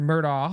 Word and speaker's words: Murdaugh: The correct pronunciation, it's a it's a Scottish name and the correct pronunciation would be Murdo.